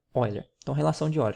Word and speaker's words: Euler: Então, pessoal, não é relação de Euler, certo? É relação, se pronuncia Euler.